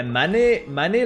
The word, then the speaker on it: Manet: Yeah, Manet like Monet.